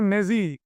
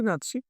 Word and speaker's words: Nazi: Actually উচ্চারণটা হওয়া হচ্ছে নেজি, NAZI, নেজি। কিন্তু আমরা ওটা উচ্চারণ করি নাৎসি।